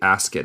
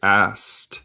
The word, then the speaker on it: asked: And asked, nota mi pronunciación, no se dice asked, se dice asked, como EDST.